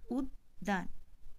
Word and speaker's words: উদ্যান: এখানে আমরা যখন উচ্চারণ করছি কি উচ্চারণ করছি, উদ্যান। তাহলে দেখো এখানে কিন্তু দ ধ্বনিটির দ্বিত্ব উচ্চারণ হয়েছে।